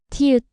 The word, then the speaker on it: 티읕: 티읕, 티읕, 트, 트. Similar to t and top, but strongly aspirated. Stronger and more pronounced than tu.